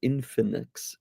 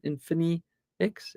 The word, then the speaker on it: Infinix: don't know this brand it's called infinix infin in infinix Infinity but without the T with an X infinex infinix I don't know again